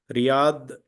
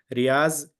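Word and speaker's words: رياض: Riyadh is the pronunciation of Dod. In Urdu, they say Zad, Za. So Riyaz, they say in Urdu background people.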